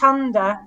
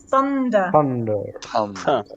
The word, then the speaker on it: thunder: important another one is the th so sunder not under thunder thunder and think not think think